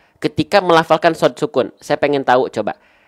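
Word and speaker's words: ص: Jadi yang pertama, sod itu sebenarnya pelafalannya hampir sama dengan huruf poin pertama, yaitu huruf sin.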